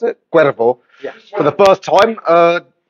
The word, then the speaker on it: Cuevo: Is that how you pronounce it? Cuevo.